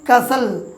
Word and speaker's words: castle: তারপর দেখুন আরেকটি উদাহরণ, CASTLE, উচ্চারণ কী হবে কাসল।